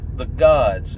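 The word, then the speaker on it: Godz: The Gods, and it's spelled G-O-D-Z. Z at the end instead of S.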